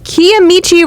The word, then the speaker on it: Kiamichi: back after looking that up and it is kiamichi river which is I think pretty close to